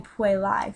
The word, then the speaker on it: puellae: So it'd be pronounced like an I, so it'd be puellae for girls.